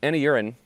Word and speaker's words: Anurin: Uh now Anurin uh his name is pronounced an urin in ularu.